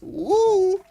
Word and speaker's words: Wu: to actually pronounce properly it's not o it's wo Zan wo the only female